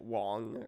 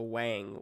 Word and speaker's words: Whang: I mean, I knew it was Wang when Yeah, I saw it because I wouldn't pronounce it Wong or anything like that. yeah. Oh, Yeah. really? I think that's how it's supposed to be pronounced. I've just been calling it Wang my whole life, so it's just how it is.